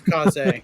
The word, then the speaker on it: Kaze: The developer confirmed that that's exactly how you pronounce it. It's Kaze. I thought it was K's as well, but it's Kaze.